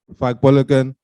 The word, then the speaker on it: Fagbolagun: i teach you today i'm frank bulligen that's the british pronunciation of my name um i dropped out